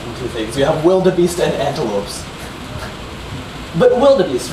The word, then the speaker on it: wildebeest: Wildebeest. Exactly. So just like how you take the V sound and pronounce it with a... You take the W and you pronounce it with a V.